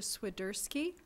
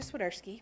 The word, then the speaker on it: Swierski: next teacher is sedersi did I say it right you did no I didn't write I'm swerski which Seva said right